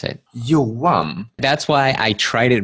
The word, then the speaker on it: Johan: Let's start with you pronounce it exactly how you would pronounce it. Johan.